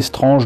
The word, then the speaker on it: Strange: est nos années strange je prononce strange est une impasse prime puisque je sais pas pour vous mais en france je doute que quiconque ait prononcé le titre de ce recueil de comics qui était mensuel si je me rappelle bien qu'il aura jamais prononcé springs je pense que tout le monde l'a prononcée strange comme je disais speed